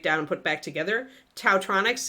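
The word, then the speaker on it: Taotronics: Tautronics is spelled T-A-O-tronics, like electronics, but Tautronics or Dowtronics, I guess.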